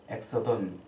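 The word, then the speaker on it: ἔξοδον: 근데 이 별세라는 말의 헬라어로는 엑소돈이라고 이렇게 발음해요. 엑소돈.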